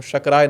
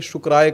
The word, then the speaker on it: शकराय: ओम इंद्राय नमः ओम शकराय नमः ओम शकराय नमः। अब इसको उच्चारण भेद मत समझिएगा कि शुक्राय कर देंगे शकराय को।